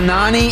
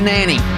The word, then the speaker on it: Nani: again you had a nani and you had a nanny right there two different pronunciations of orlando city's captain who by the way